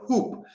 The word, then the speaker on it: Huupe: Uh we have top deals uh of the week which begins with a basketball company called Hoop. Uh that is how you pronounce HWBE.